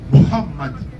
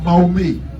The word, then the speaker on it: Mohammad: dire il n'a qu' répéter après faut dire Mohammad tu laisses passer le vent Mohammad il va prononcer il y en a qui dit non